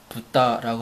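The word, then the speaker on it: ぶた: 자, 일본어로는 돼지 돈 많이 쓰는 그 한자에다가 붓다라고 합니다. 붓다 발음이 뭐하고 비슷하죠?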